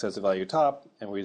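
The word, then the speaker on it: ⊤: Uh we will assign x this special value here which is pronounced top if x is not a constant.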